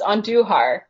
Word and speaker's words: Andujar: It's Andujar.